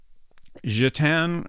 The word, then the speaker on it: Gitanes: I previously pronounced this as Gitanes. Gitan, I think, is more correct. I'm not sure if that's quite right, but should be closer.